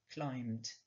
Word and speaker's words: climb: Comme il n'y est pas, le verbe est donc régulier et donnera climbed. On ne prononce pas le B, climb.